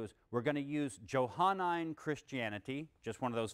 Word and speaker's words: Johannine: And we're going to call that Johannine Christianity, or some people might pronounce it Johannine Christianity. It's the same thing.